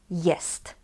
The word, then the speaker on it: jest: and we ask: "Która jest godzina?" In natural speaking it will be: So we actually don't pronounce this "t" in the word "jest".